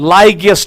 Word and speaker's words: Lygaeus: अब क्वेश्चन ये उठेगा कि सर इसको क्यों हम लाइगियस टाइप कहते हैं? लाइगियस स्पेलिंग अगर आपको यहां पर देखनी है, दैट इज LYGAEUS, लाइगियस टाइप।